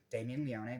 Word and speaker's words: Damien Leone: Damien Leone, that's how you say his name, the creator, the master of this movie.